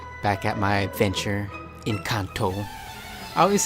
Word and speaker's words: Kanto: But if it's like the actual Japanese pronunciation and everything, then it should be Kanto.